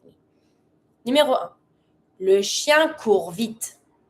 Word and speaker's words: court: Le chien court vite. Don't pronounce the T from court.